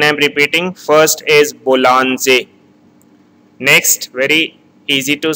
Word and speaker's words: Bollinger: It is not called Bollinger. In Bollinger it can be called in English, but in French it is called Boulanger. So again I am repeating, first is Boulanger.